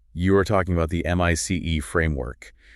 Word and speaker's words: MICE: You are talking about the M.I.C.E. framework. That is pronounced mice.